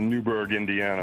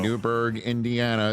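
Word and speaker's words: Newburgh: him from Brian beautiful Newberg Indiana all right sir Newberg Indiana is there an H in that silent h there is go a boy home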